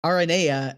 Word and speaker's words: Aranea: I say Aradia and Arania, and those get confusing. Yeah. Instead of Aradia, like a lot of people say, and Aranea, as is apparently the actual, like, Greek way to say it.